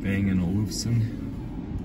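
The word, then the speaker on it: Bang & Olufsen: this one does have the upgraded stereo system Bang and Olufsen that's how you pronounce it fog lamps headlights are automatic I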